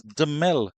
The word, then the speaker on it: Damel: His dad said the pronunciation of his name is Damel Evelyn. Damel, with an accent on the A is the actual spelling.